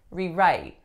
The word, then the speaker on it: rewrite: So right now I'm saying it as a verb because my strongest syllable is the second. So, for example, I need to rewrite this play. As a noun, we would get rewrite.